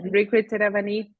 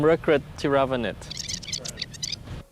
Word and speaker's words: Rirkrit Tiravanija: You have to pronounce the last name. Yeah, that's right. Rirkrit Tiravanija.